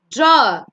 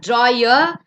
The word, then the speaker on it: draw: Draw. It's not drawer, it's draw. R is silent at the end.